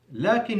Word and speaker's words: لكن: ولكن, لكن means but, and there is an alif between the lam and the kaf, pronounced but not written.